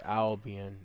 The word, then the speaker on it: Albian: Albian is how you pronounce it.